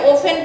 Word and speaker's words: often: ओफन का मतलब होता है OFTEN, हाँ OFTEN, इसमें टी साइलेंट है, ओफन पढ़ते हैं।